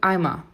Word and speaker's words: Eimer: O EI tem som de I, o ER no final tem som de Azinho, Eimer, der Eimer. E o plural?